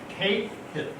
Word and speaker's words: Cahill: It was Cahill, right? Pronounced K-Hill.